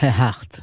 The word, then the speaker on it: Earhart: Comment tu prononces ça? Amelia Earhart.